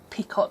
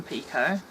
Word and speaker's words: picot: bar we're going to pico pico or ever way you want to pronounce it it's a French word so pico is probably correct so we're gonna start